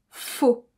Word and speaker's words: il faut: Et à l'oral, il faut, c'est souvent prononcé seulement faux.